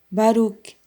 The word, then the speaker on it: Baruch: ou então significar-se como Baruch, O CH em hebraico é pronunciado como J em espanhol. Baruch, Lot ou Lot.